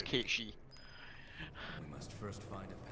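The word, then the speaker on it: Cait Sith: the thing behind it yeah so most people pronounce it cat Seth yeah uh the actual pronunciation for those who don't know as it goes back to Scots and our Gaelic Legends and it's kichi I must first find a passage that leads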